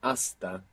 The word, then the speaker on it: hasta: I remain myself until until in Spanish is Asta Asta h-a-s-t-a you may have heard